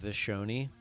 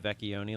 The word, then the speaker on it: Vecchioni: They would call it Vishoni instead of Vecchioni like it's supposed to be pronounced.